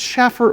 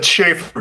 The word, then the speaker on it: Schaefer: By the way, first of all, is it Schaffer or Schaefer? It's Schaefer, but call me Shane.